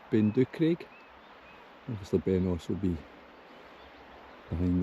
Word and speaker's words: Beinglas: It's looking up to Beinglas, Ben Chabair, but Beinglas as it's pronounced.